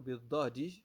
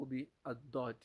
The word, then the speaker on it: ضاد: منها أنك تنطق بالضاد من حيث أن حافتي لسانك تمس أو تمسان بحافتي ألسنك، حافتي ألسنك. فهمت الآن؟ هكذا تنطق بالضاد.